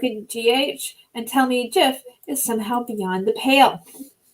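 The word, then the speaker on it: GIF: a stephen wilheit creator of the of the jiff has died it's pronounced jiff and someone wrote i guess he's with john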